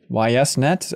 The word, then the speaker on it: YSNet: there in tokyo yeah but i think it's why yes because of you suzuki so it's weird to say east or yeast or something um but